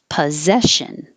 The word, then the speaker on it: possession: i wore this yesterday possession looks like s is sounds like a z um i hear it